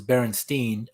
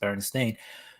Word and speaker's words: Berenstain: But it's like widely accepted that it was Berenstein until probably like the last decade where people were like, no, it's actually pronounced Berenstain, which is weird because, oh yeah, in the bar, that was a great scene.